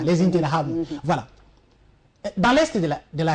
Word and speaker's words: Interahamwe: Les Interahamwe, ou encore d'autres, c'est comme ça qu'on prononce en Kinyarwanda, les Interahamwe.